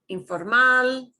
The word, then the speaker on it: informal: okay ah informal informal so you'll notice all these things that end in ls you punch the end of the word right informal individual this is important